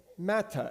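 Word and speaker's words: מַטֶּה: The word for staff is mattah, Mattah. It's a simple pronunciation difference.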